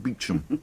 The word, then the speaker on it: Beauchamp: A lot will depend on Superintendent Beauchamp, pronounced Beecham.